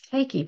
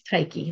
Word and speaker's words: Tyche: And it's Tyche. People are always asking me how to pronounce it. It's Tyche, like Nike, but with a T.